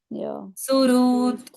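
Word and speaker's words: सुहृत्: हृदय का रू है यहां पर सुरत आधे ह के साथ ऋषि का रू हृदय का रू सुरत सुरत और लास्ट का त आधा है इसलिए उसका आधा उच्चारण कर दिया सुघोष सुखद सुरत सुघोष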